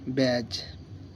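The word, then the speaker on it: badge: হয়ে যাবে silence D বি এ ডি জি ব্যাজ জে ইউ ডি জি ই জজ এখানে যেমন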